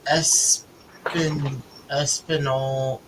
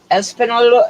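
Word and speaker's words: Española: Why do they pronounce Espinol as Espinola? Espanola. It's because most of the people in Espanola are descended from the Spanish and not from the conquistadors. That's just how it's pronounced.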